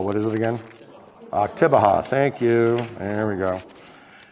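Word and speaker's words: Oktibbeha: Because I was mispronouncing counties yesterday. So it's not Octobeha. What is it again? Octobeha.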